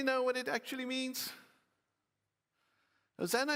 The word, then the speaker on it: Hosanna: Hosanna is a Hebrew word pronounced Hoshiana, and it comes from Psalm 118, verse 25.